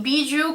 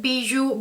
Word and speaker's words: Bijoux: And I think it sounds something like bijou or around the lines of that. Anyways, the outside packaging of